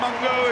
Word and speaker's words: Mago: Kane Ellis off and Patrick Mago on, or Mungo, as I think the official pronunciation is.